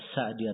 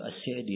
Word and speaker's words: As-Sa'di: Di fathah atau di kasrah? Kata beliau As-Sa'di yang benarnya di kasrah. Terus saya tanyakan, ada yang membaca Sa'di? Kata beliau itu keliru.